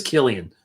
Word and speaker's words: Cillian Murphy: Not Killian. Oh, it is Killian. Sorry, I'm saying Cillian Murphy. I always said it wrong because I look at it phonetically, but it's Cillian Murphy. So Killian. Sorry.